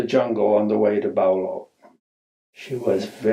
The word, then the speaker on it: Bao Loc: Only it seems to have been pronounced Bluff or something like that. In my diary that I kept on that trip, I spelled the name of the town B-L-O-U-G-H. That's not how it's spelled. It's spelled B-A-O-L-O-C. So I have no guess how it's really pronounced in Vietnamese.